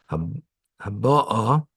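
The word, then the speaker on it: הבאה: That's why the accent is in the last syllable of the aleph. Haba'a, because when they were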